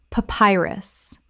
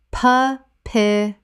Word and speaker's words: papyrus: Papyrus. Common mispronunciation. Pa-pi-rus. Correct pronunciation. Pa-py-rus. Three syllables with the stress on the second.